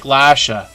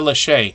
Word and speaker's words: Lachey: name, it looks like Lasha. I've been saying it wrong the whole time, but the last A is actually like a long hard A, right? If that makes sense. Lachey.